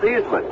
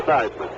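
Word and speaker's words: Theismann: washington redskins you know when seismic first came to notre dame he pronounced the name seizman the family name is female steezman but roger valdiserri the publicity director force publishing director notre dame explained to him that heisman rhymed with heisman so he pronounced it joe seisman back in defense formation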